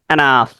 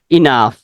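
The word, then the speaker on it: enough: কি হবে এনাফ ওকে যদিও শুরুতে ই আছে কিন্তু এখানে এনাফ উচ্চারণ হবে না এখানে উচ্চারণটা হবে ইনাফ ক্লিয়ার ওকে পরবর্তীতে নেক্সট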